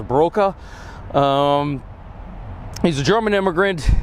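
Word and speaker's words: Borcke: ke German immigrant uh believe in German that would be pronounced broka um he's a German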